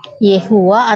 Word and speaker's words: Yehuwa: orang melafalkannya ada banyak ada sebagian yang melafalkan Yahweh tapi ternyata ketika pelafalan Yahweh itu dikembalikan ke huruf Ibrani nya enggak bisa ketemu yhwh pelafalannya yang betul sebenarnya Yehuwa atau yova atau Jehova bahasa Inggris Nah itu baru bisa